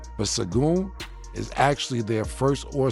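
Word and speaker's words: Şengün: is and I don't want to pronounce his name wrong. It's Sengun. Sengun. Uh Sengun cuz I don't Sengun Sengun.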